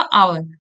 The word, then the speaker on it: hour: He will return इन, अब देखो HOUR है, तो इसको आप पढ़ते क्या, आवर। आवर पढ़ते हो ना, क्योंकि एच साइलेंट होता है, तो यहाँ ओ से आपका स्टार्ट हो रहा है, तो ये क्या है आपका एन आई।